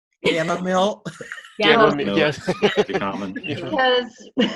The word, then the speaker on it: Gammill: Have you Well- ever heard it pronounced, the Gammill pronounced Jamil? Gammill.